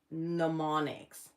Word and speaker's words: mnemonics: I think the M is silent on that.